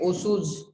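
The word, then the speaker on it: Otsu: Next is Osu's binarization. T here is silent.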